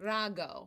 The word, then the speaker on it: Rago: of that no not how do you say it again Rao my name is Rago Rago how gorgeous is that